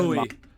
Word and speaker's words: buoy: Equal disparity can be found over the pronunciation of a certain floating device used for navigation. Buoy. That's a buoy. Marking underwater objects and eliciting the question, what is that thing? A buoy can serve many purposes.